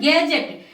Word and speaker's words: gadget: तो आप देख सकते हैं गैजेट, ठीक है। अब एक बात बताइए, GA से ग हो गया और GE से जा कैसे हो गया, ठीक है।